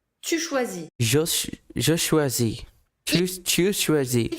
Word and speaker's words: choisis: Following the structure of finir, we'll have je choisis, tu choisis, Je choisis. Tu choisis. il choisit, Il choisit. final S, S, and T, Never that you do say.